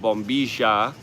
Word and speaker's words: bombilla: And the straw is called a bombilla, but of course a lot of them would pronounce it bombisha with the double L.